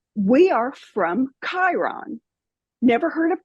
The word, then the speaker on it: Chiron: said we are from Chiron never heard of Chiron in my life but I heard it with my inner hearing I guess with that hard CH that that k sound but I I knew